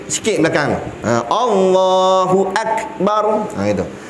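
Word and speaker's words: أكبر: Allahu Akbar. Gitu. Bar pula dibaca dengan isti'la, sebab ra mati, huruf sebelum dia berbaris fathah atas. Maka bacanya bukan bar, bukan bar gitu. Bar, dikembungkan mulut. Allahu Akbar gitu.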